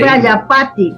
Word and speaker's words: Prajapati: Prayapati. Por eso hacían eso, sí, Prayapati con J, Prayapati, quiere decir padre de la humanidad Con en J. la India. Vale. Sí, Prajapati se escribe, Prajapati.